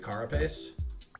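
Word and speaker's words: carapace: You pronounce it carropase.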